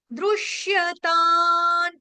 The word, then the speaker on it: दृश्यतां: छोटी की मात्रा, दयित दृश्यतान। तान के ऊपर, ता के ऊपर जो बिंदी यानी कि अनुस्वार है, उसका उच्चारण होगा हलंत न, आधे न से।